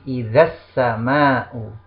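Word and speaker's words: إذا السماء: Kemudian idza as-sama'u menjadi idzas sama'u.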